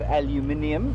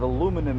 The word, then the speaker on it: aluminium: of it's made of aluminium if you're from Britain it's made of aluminum if you from America and now the British